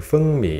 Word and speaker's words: Fengmi: case you are wondering why I am pronouncing for me in this intonation that's because it's the correct pronunciation in Mandarin film in speak me